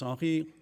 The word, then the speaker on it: Henri: As Jilson said, my name's Henri. If you're having trouble with the pronunciation, it's something sort of like this. I'm French, so the R thing, it's always a bit of a challenge.